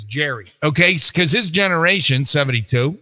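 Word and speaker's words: Gerry: Gary is uh 72 I don't believe it's Gary I believe it's Jerry okay because his generation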